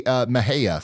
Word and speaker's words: Mexia: They say Mahia for the Mexia.